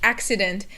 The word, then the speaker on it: accident: mispronounce this one because you have the two cs and they each have a separate sound so the first c is like a k sound and the second c